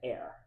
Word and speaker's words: Eyre: So in England they pronounce it air. So Air Crow.